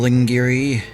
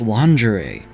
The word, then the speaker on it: lingerie: Lingiri. Lingiri. It It's pronounced lingerie.